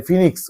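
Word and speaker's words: Phoenix: ছোটবেলায় যখন সবাই চায়না ফোনিক্স মানে ফিনিক্স উচ্চারণ তো ফিনিক্স, আমাদের গ্রামাঞ্চলে মফস্বলে চায়না ফোনিক্স নামেই বলে।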